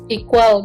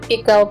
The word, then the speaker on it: EQALL: Termasuk satu lagi nih, mereka menyediakan satu platform namanya Equal gitulah, sebenarnya tulisannya EQALL. Jadi sebenarnya bacanya Equal Plan kali ya.